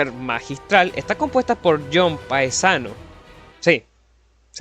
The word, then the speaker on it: Paesano: 7) The game's soundtrack, besides being masterful, is composed by John Paesano, yes, that's how it's said, don't judge me,